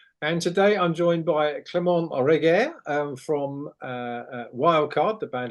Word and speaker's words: Clement: Even my first name, Clement, which is pretty, I would say, bog standards, even in the UK, it's like you would be surprised, like the amount of pronunciation and spelling I had for Clements. I had some Clemeno, Claremont, all sort of things.